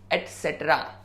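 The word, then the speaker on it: et cetera: उसका full form होता है ETCETRA, एटसेट्रा।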